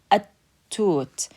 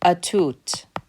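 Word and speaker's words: التوت: At-toot. I'm not saying a-toot. I'm saying at-toot.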